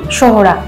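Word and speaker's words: Sohra: ঘন্টারও বেশি সময় লাগলো চেরাপুঞ্জির স্থানীয় নাম সোহরা স্থানীয় খাসিয়া ভাষায় যার অর্থ কয় ব্রিটিশদের উচ্চারণে সোরা হয়ে যায় চেরা আর সেই থেকে এসেছে চেরাপুঞ্জি আর আমরা পৌঁছে গেলাম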